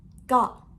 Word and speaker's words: ก็: pronounce it correctly it's ก ็ short sound with falling tone.